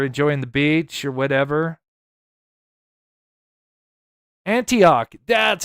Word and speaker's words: Antioch: Antioch.